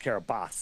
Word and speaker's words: Kiribati: And the whole thing is pronounced Kiribas anyway.